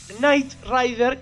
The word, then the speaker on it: Knight Rider: No confundir con Knight Rider, que se pronuncia igual pero va con K antes, que es el nombre en inglés que tiene el auto fantástico.